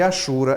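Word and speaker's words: hachura: que em língua portuguesa o h não tem som viu minha gente e a xura é uma palavra da língua portuguesa não confundir com Hat que é a xura em inglês aí você pronuncia o h o h é aspirado Hat em português é achura apenas Tá certo vamos em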